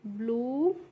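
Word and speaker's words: blue: तो बी एल यू ई है तो इसको हम पढ़ेंगे ब्लू और सी एल यू ई को पढ़ते हैं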